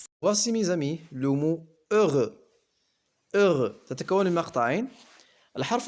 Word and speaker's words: heureux: والحرف الأخير X لا ينطق.